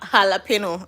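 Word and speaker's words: jalapeño: Jalapeno. I hear the J is silent.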